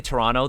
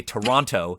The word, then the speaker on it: Toronto: is very explicitly toronto the only mistake they make is that they don't say it properly they see toronto the entire time i get it for accessibility purposes but you got to have at least one character say toronto you gotta 100 agree um